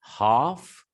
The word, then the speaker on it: half: know the pronunciation here so l is silent it becomes h a